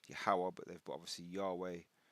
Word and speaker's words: Yahweh: They put Yahweh, sorry, it's Yahweh, true name, true pronunciation of the Most High's name is Yahweh, but they've put obviously Yahweh Restoration Ministry.